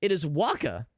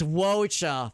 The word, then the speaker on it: Wocha: No, it is Waka. Or Wocha. It's probably Waka, if I had to guess. That's probably how you pronounce it. I think of the guy from Final Fantasy X. You can correct me if I'm wrong. It's Wocha. I thought I was cooking, man.